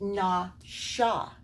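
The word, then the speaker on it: נָשָׁא: It just has the dot on the other side. It's pronounced Nasha, and this does mean to deceive.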